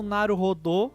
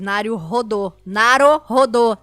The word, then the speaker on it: Naruhodô: Não é o rodo da sua, que você puxa a água do banheiro, é rodô, você fica rodando, aí a pessoa que rodou é o Naruhodô, tá bom?